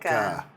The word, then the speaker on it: Araica: Well, we were going to pronounce the name correctly, correct? Araica. Araica. Right? Did we get it right? Yeah, that's There you go, correct.